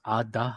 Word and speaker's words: Ada: It's pronounced Ada.